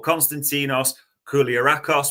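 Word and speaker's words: Konstantinos Koulierakis: And the final one of these Barts, I'm not going to get you to pronounce his full name, but Constantinos Kulakos was how it's pronounced the other night, so we'll just say Constantinos to keep it easier for you.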